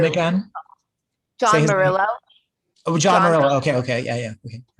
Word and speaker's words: Murillo: um different events say his name again john marillo oh john okay okay yeah yeah okay yeah